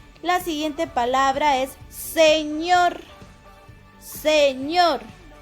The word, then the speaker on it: señor: siguiente palabra es sr señor el acento recae en la última sílaba si no dijera señor señor si el acento estuviera aquí dijeras señor pero el acento está acá y es señor y es una palabra